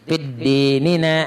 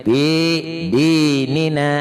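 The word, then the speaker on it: فِي دِينِنَا: Bila pian pakai tasdid fid dinina, nah itu salah sudah. Jadi nang bujurnya itu fi dinina.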